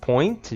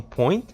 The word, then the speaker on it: point: Então, atenção nessa pronúncia, aliás, point, geralmente esse T vai ser bem curtinho, então point.